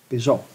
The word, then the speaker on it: Peugeot: How is that pronounced? Peugeot.